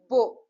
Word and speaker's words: beau: As I already explained you, EAU is pronounced as O, right? So with B, if it has been written, the pronunciation will become as Bo, Bo.